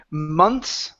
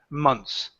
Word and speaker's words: months: tip months okay we're going to get rid of the th okay so when we pronounce it it pronounced like that months moans and so this is going to be six months six months there you go much easier right whoa yeah so don't worry about that th you guys when it's plural you only pronounce the S at the end months ok so for